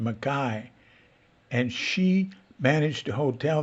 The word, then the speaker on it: McKay: And in Scotland, her name is pronounced McKay, and she managed a hotel there for a few months in an area where the Mackays come from.